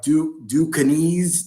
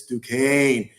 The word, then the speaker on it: Duquesne: they were calling it like Ducanese. They didn't know how to pronounce it. So you're right. Now I had to correct them because I went to school by Duquesne. I said it's Duquesne. So now they got their